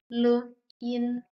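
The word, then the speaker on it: 林: Lin Lin second tone lin means woods forest second tone means zero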